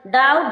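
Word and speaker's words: doubt: date date means शरण थम थम मीस अंगूठा डाउट डाउट मीन संध संदे किसी इसी प्रकार ये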